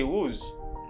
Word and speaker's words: who: Because you do not pronounce W in this word.